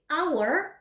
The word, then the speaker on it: hour: Hour itu dimulai dengan H ya, hour. Tetapi karena dia suaranya A, walaupun hurufnya H, hour, makanya dia diperlakukan seperti huruf hidup.